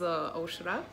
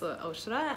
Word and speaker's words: Aušra: So, you're pronouncing well my name. My name is Aušra. Ah, okay. Yeah, it's Aušra, and my career started when I was studying at university.